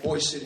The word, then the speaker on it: Boise City: The other town is called Boise City. That's how it's pronounced.